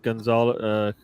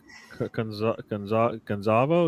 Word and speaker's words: Gonzalo: You would think Gonzalo, Gonzalo, is how you say his Ramos, and Yeah, Bruno